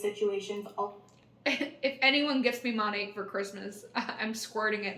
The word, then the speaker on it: Monat: It's short for Modern Nature. It's not Monat. It's Monat.